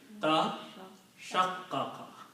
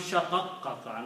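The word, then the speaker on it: تشقق: So in the pronunciation, what happens is that both of these letters are pronounced as sheen. Okay? So it becomes shaqaqqaqa, not tashaqqaqa.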